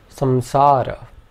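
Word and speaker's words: saṃsāra: but at this point for our purposes we can pronounce it like a nasal M so for example we would pronounce balam and samsara the second ornament is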